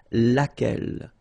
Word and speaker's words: laquelle: So basically same rule, Q-U, U is not pronounced here. And then you get this E-double-L-E, well, phonetically here, it is the same as what we have here. So laquelle. So the only difference between